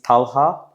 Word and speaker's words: Talha: So, I've been having a very difficult time pronouncing names. So, I want you to share your name again. Uh my name is Talha.